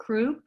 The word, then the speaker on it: Cropp: Kropp, is that how you say her name?